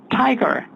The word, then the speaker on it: tiger: 것입니다 여러분 여기까지 다한다면 호랑이 할 때 그냥 한국 바람처럼 귿 발람 타이거 하지 마세요 여기 있는 것처럼 혀끝 대고 공기를 그렇 모은 다에 압축하고 터트려서 따라 볼까요 tiger 그렇게 해야 됩니다네 tiger